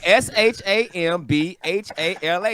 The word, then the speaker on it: Shambhala: anything the shambler of buddhists says that you pronounce that right yeah that's a character for martin s-h-a-m-b-h-a-l-a shambhala yo well here's the thing you have